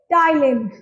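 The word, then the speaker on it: Ptyalin: Salivary अमाइलेज़ या फिर टाइलेन। पहले तो नाम याद कर लो। Salivary अमाइलेज़ टाइलिन।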